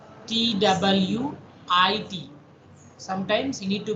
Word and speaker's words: TWT: A traveling wave tube, sometimes you need to pronounce twit, TWIT.